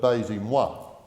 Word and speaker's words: Baise-moi: And this deals, of course, with the controversy about the banning, and I trust my French pronunciation is excused by Hansard, but Baise-moi.